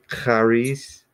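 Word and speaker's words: χάρις: Some people would just kind of make it like sound like a CH.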